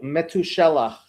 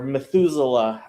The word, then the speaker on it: Methuselah: Meth Methu Methuselah or Methuselah as you Americans say it.